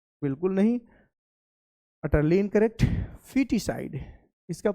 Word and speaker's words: foetus: और कभी गलती से इसका फोटस या अलग अलग लोग इसका प्रोनाउंसिएशन करते हैं, that is incorrect. The correct pronunciation is फीटस।